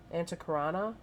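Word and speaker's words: antakarana: anticonar your antacarnana Bridge To Source I cannot pronounce that antacarana Bridge no no you can also draw down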